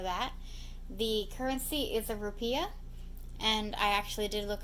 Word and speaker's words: rupiah: of us know that the currency is a rupiah and I actually do look up the pronunciation that's how it's spelled but it's pronounced rupiah population is 267 million seven hundred thousand as